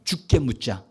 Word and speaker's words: 주께 묻자: 따라 주께 묻자. 주께 묻자. 이거 잘 발음 잘해야 돼요. 죽도록 묻자 그러면 안 되고요. 죽게 묻잖아요. 주님께 묻는 거예요.